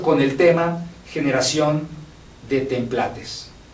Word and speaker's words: templates: el tema generación de templates así se pronuncia templat Disculpen ha trabajado en